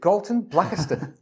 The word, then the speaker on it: Galton Blackiston: And a huge Hospitality Meets welcome to Galton Blackiston. You got it right. You pronounced the name right. Is that right? Yeah, most people don't.